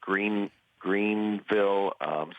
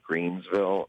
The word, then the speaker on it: Greenville: I know we were in Greenville, South Carolina, and I kept calling it Greensville.